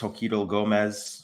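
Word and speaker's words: Xochitl Gomez: And of course, America Chavez is played by I believe it's pronounced Joquito Gomez, who was of course 14 when she filmed Doctor Strange in the Multiverse of Madness and is currently 16.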